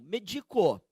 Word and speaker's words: medico: Você verifica que a palavra não tem mais acento, aí você vai pronunciar como? Medico, tá certo?